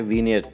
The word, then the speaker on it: vignette: वैसे स्पेलिंग तो आप इसके देख रहे हैं, लेकिन इसको प्रोनाउंस करते हैं वीनियट।